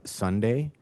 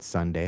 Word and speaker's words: Sonday: We also have Sunday It's spelled Sonday, but Sunday, like the day of the week.